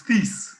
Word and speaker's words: Thies: It's Peace. Rhymes with peace.